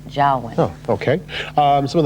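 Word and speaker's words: Joulwan: talking with General George Jaan this morning about a lot of different things and we've been mispronouncing his name the last few days it's jwin oh okay um some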